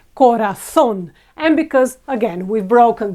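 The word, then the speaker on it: corazón: Spanish is Corazon Corazon now ending with an N we would expect ra this syllable to be the stronger one Corazon but it's not you've never heard anyone say Corazon in in Spanish it's always Corazon and because again we've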